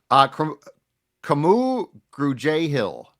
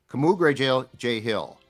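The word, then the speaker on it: Kamu Grugier-Hill: Camu Grugier-Hill. So it's Camu Grugier-Hill. It's K-A-A. It's phonetically capital K-A-H, and then Mu, small M-O-O, and then it's Gru, G-R-E-W uppercase, and then J, J-A-Y small. Camu Grugier-Hill, which is as far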